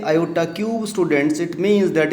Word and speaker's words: iota: Here I want to tell you students, this I that is pronounced as iota.